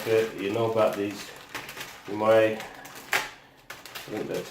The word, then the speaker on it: UMAi: I don't know if you know about these money and that's how you say it great bags